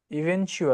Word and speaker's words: eventually: আচ্ছা, ইভেনচুয়ালি উচ্চারণ eventually এটা কঠিন eventual চ আছে একটা শক্ত চ eventually আচ্ছা, এটাকে চ বলে ইভেনচুয়ালি এই আপনি ট একটু আছে না বলেন এটা আবার একটু। eventually ইভেনচুয়ালি চ ইভেনচুয়ালি এই ইভেনচুয়ালি এই ইভেনচুয়ালি